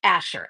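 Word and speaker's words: Asscher: You know, go Google Asher. Asher is spelled as SS. Like, you know, you're posterior. C H E R.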